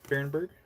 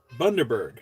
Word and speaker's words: Bundaberg: Barenberg? Hold on. How do I pronounce it? 1 second. Barenberg? No, that's not right. Root beer. Barenberg? Somebody help. Oh my gosh. Apparently. Bundaberg.